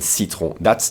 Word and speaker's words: citron: And what's also interesting is that in terms of pronunciation, what makes it hard to get is that we would never skip that I in citron. We skip a lot of letters and syllables, but not that I.